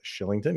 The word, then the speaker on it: Kylington: flame Oliver Shillington yes that's how you pronounce his name is Shillington even though it looks nothing oh those hockey names um